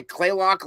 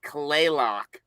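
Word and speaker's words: Kalaloch: stuff so now did you get down to play loock Lodge did you get down all the way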